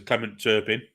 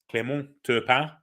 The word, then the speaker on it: Clément Turpin: In England, he'd been known as Clement Turpin, but Clément Turpin, I believe, is the Spanish pronunciation. French pronunciation.